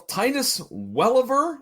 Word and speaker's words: Welliver: Well, our other main event guest star, if you will, Titus Welliver, I believe is how it's pronounced.